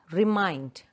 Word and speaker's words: remind: So that is a word, remind. Mind, the second syllable is stressed. Two syllables, remind. And mind is stressed.